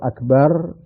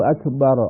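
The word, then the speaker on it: أكبر: fatal itu gitu jadi Mbaknya tidak boleh dibaca panjang mungkin muadzin tidak bertujuan apa-apa cuma ingin mengkeraskan saja sehingga dengan tujuan tersebut Mbaknya dibaca panjang nah kalau tujuan mengkeraskan itu jangan memandjangkan Mbak itu dikeraskan saja Misalnya tidak diseimbangkan misalnya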